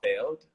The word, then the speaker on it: Feeld: It's called Failed. It's spelled Failed. Feeld. And the reason that I